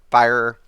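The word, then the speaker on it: Firor: I pronounce it Fear, but Fire.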